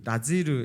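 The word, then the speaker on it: נזיר: 자, 나시린이란 히브리어로 나지르 이렇게 발음하는데요.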